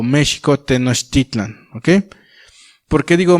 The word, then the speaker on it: México: Y fundan entonces así México, o México Tenochtitlan, ¿ok? ¿Por qué digo México? En el náhuatl la X se pronuncia como X, ¿sale?